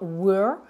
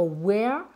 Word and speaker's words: were: On ne va pas dire where, là ça serait où, mot interrogatif, mais ça va être were.